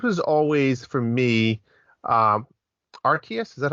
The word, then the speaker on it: Arceus: funny because this was always for me um arceus is that how you say it arceus yes this is always like arceus what's awesome